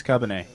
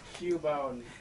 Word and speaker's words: Cubone: Thank you for sending us Cubbonay, but you're can send you us something better. It like an asshole? I'm sorry, Cubbonay. Can you not pronounce it like a bigger asshole? Cubbonanana. Cubone. Get it correct.